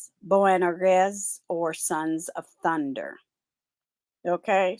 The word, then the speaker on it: Boanerges: And now I looked the word up and I listened to the pronunciation. Boanerges, or Sons of Thunder.